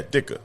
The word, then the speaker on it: Ditka: Dicker? Yeah, Dicker. Mike Dicker. You don't say the T.